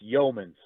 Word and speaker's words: Yeomans: breakup there, but it's Yeomans. So basically, you take the U out of it. There's no U. And so Yeomans, I mean, there's U when you spell it, but whenever you say it, it's Yeomans.